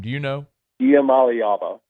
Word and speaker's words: Iamaleava: Iamaleava. Say it again? Iamaleava.